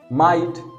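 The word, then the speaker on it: might: माइट, जीएच आ गया, silent हो गया, और आई के बाद जीएसटी है, माइट।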